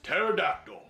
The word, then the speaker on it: pterodactyl: The P is silent.